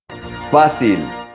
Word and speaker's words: fácil: Fácil. Most people mispronounce this word. It's not fácil, it's fácil.